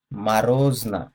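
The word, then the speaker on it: мороз: রোজা, রোজা, মা রোজ, মা রোজ, এখানে মরোজ হবে না, মারোজ হবে, ঠিক আছে, এটার উচ্চারণটা মারোজ হবে।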